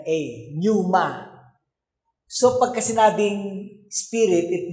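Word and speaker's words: pneuma: P n e u m a numa.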